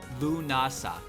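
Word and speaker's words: Lughnasadh: n a s a d h and it's pronounced L NASA l o o n AA lunasa who the what is there even what is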